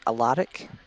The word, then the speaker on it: Alaric: Yeah, Alaric. Alaric. Okay, is it? Alaric. Spell it for me.